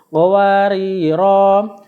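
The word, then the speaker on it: قواريرا: yaitu akhir ayat 15 Jika wakaf rnya dibaca panjang awal ayat 16 r-nya dibaca pendek jadi baca ya qowariro qowariro min fidoh itu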